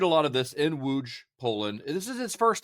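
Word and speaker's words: Łódź: by a Z with an accent but it's pronounced wooj wooj Poland.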